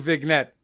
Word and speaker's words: vignette: like to point out casey they're also saying vignette you guys are pronouncing the g right yeah yeah my bad